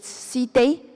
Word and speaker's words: cité: And the French pronunciation is cité and villa.